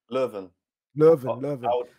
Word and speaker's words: Leuven: How'd you pronounce it again? Leuven? Leuven.